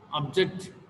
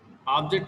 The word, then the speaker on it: object: Can you give one example for word stress? Object. Object means aim or goal. Object means to restrict. Conduct and conduct.